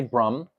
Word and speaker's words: Brahman: the soul is really Brum when we say Brum you understand what that means books he's written